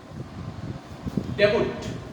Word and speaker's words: debut: The wrong pronunciation is debut.